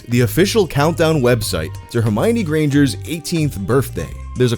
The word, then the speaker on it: Hermione: First of all, her name is pronounced Hermione, not Hermione. You can remember where the accent goes because it's on the my, as in Hermione is my girl, not yours, which means don't even think about it.